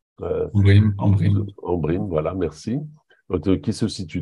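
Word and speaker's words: Ambrym: ou d'Embrim, je ne sais pas comment on prononce. Embrim, voilà, merci.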